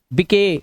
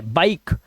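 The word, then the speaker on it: bike: give मके नहीं make बिके गलत है बाइक इस ज से राइस या रि से नहीं पढ़ना है क्योंकि लास्ट का ई साइलेंट है ठीक है क्लियर हो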